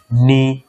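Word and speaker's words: know: নি, আমরা এটাকে বলি নো, এটাকে বলি নাইফ, এরকম আরো আছে নলেজ, এগুলা কিন্তু কে এন দিয়ে শুরু হয়েছে এবং কেটা সাইলেন্ট করে দিবা।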